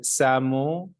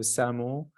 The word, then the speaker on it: SAAMO: On sait que SAMO, ancien Samenlevingsopbouw, qui s'écrit SAAMO, il offre un certain accompagnement dans des matières liées à l'énergie.